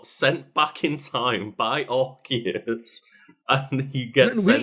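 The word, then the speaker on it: Arceus: Um, and they are sent back in time by Archus. And he gets We is it Archius or Arus now? Officially Archus.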